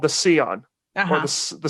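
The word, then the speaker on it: Sián: But they recently debuted a very limited production car called the Scion, or the Scion. It's an Italian word I might be mispronouncing, but it's spelled Sian.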